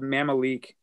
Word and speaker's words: Mamaleek: And then the last one I had down here, there's a band called Mamalik. It's spelled Mamaleek.